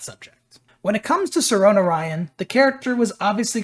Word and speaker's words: Sirona: Because to pronounce Sirona, you must first emphasize the word Sir, and Ryan is a traditionally masculine name.